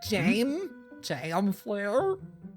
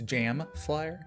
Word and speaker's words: JM Flyer: Who Oh, writes, is that how it's pronounced? I was like, Jam Flair. It's Jam Flyer.